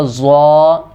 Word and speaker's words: ضا: پڑھ دیتے ہیں، جبکہ یہاں پر اصل تلفظ یہ ہے اس کا ضا. ضا نہ زوئیں پڑھنا ہے اور نہ ہی زواں پڑھنا ہے، اس کو ضا پڑھنا ہے.